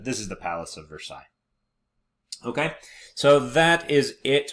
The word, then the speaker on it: Versailles: said that but this is the Palace of Versailles okay so that is it for uh the